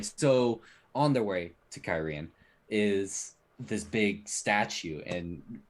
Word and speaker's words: Cairhien: They're making yeah, their way to Cairhien.